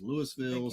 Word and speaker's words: Louisville: It's spelled like Louisville, but everybody down here says Lewisville, so that's what we say.